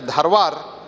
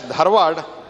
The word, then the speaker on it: Dharwad: It is Britishers were used to pronounce it as Dharwar but now it has been officially named as Dharad.